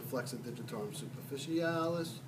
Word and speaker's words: flexor digitorum superficialis: call this one, the flexor digitorum superficialis. You have to say it like that. Did you ever watch Mary Poppins? You know? No. Supercalifragilisticexpialidocious, even though the sound of it may sound atrocious.